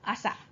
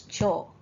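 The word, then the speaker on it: 朝: This one is morning, okay, as in asa. Asa gohan, morning meal, okay, breakfast. Now another pronunciation of this kanji is cho.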